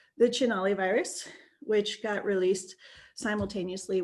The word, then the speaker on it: Cinelli: The Cinelli Virus, and I'm not trying not to do spoilers, it's pronounced Cinelli.